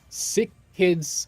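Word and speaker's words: SickKids: Is it pronounced CISC? It's Sick Kids Hospital.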